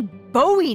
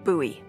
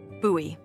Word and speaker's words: Bowie: out this huge Rusty Bowie knife it's actually pronounced buoy what no it's like the last name like David Bowie different last name buoy are you just messing